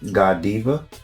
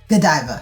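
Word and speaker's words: Godiva: business, but if I'm not mistaken, how you pronounce it, Giva. Gdiva.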